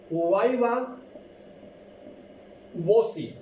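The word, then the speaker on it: viva voce: अब इसको प्रोनाउंस हम किस तरह करेंगे, 4 तरीकों से, ये याद रखें। 4 तरीकों से हम इसको प्रोनाउंस कर सकते हैं। सबसे पहले है वाइवा वोसी। एक तरीका है वाइवा वोसी।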